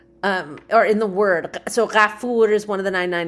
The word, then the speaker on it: Gafori: And so my last name, Gafori, is correctly pronounced Ghafuri, and it comes from one of these 99 names of God, which is Ghafur.